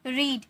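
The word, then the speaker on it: read: Slapped, spoken, exercise, walked, watched, eaten, रीड। इसे रीड नहीं रेड में प्रोनाउंस करेंगे। ओके? यह वी3 है। इसीलिए फर्स्ट फॉर्म में रहता है तो रीड। Second form रेड, third form भी रेड।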